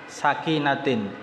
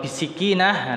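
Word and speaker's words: سكينة: Itu berjalan menuju salat bisakinatin, ya, bacanya dengan sinya di fathah, sakinatin. Jangan salah baca, jangan dikasroh. Kalau bisikinah, nanti antum jadi heboh itu.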